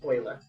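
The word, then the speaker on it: Euler: p e stands for Oiler it's named after the person that discovered it his name is spelled e l e r but it's German so that's why it's pronounced Oiler and the number e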